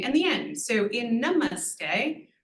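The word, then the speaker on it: नमस्ते: the end so in Namaste we have n but then our middle syllable is actually mus and then T the vowel is also long so n is the only short one Namaste so we sort of build up in terms of the weightiness another one votti superpower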